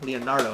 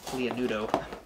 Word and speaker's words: Leonardo: Leonardo, that's how you say his name, not Leonudo.